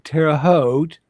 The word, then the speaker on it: Terre Haute: So sometime, maybe in Terre Haute. Rhymes with boat.